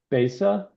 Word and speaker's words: Bessa: Uh Basa, sorry for the pronunciation. Yes. Uh close enough. Um my name is Bessa.